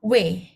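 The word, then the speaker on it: 왜: Jadi, gabungan O dengan E. Bacanya W. W.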